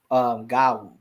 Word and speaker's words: gawu: Nigerians say it, and she mentioned that the Ewe say it as gawu.